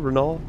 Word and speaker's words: Renault: is it just renault is that the proper pronunciation renault with no lnt oh god oops yep reading